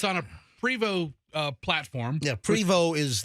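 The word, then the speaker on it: Prevost: So, it looks like it's Post, but it's pronounced PO.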